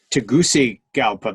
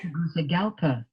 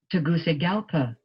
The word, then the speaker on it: Tegucigalpa: Tegucigalpa. Did you hear that? So it isn't a soft Tegucigalpa. That's much easier to say. Tegucigalpa. Tegucigalpa. Tegucigalpa. Tegucigalpa. It's a goosey place, not a Gucci place or a gookie place.